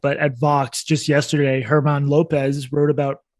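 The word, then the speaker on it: Germán: at Vox just yesterday, Herman Lopez wrote about how police probably reduce crime, which I think is a pretty well-grounded finding, but it's controversial in the Voxosphere. Herman, his name is spelled German, Herman Lopez, he's honest.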